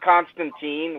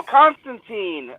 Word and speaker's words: Constantine: knew that it's actually alan moore said it's pronounced constantine not constantine which i don't know but he's the creator right so um so so constantine uh he wanted he